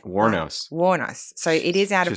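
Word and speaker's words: Wuornos: Warnos.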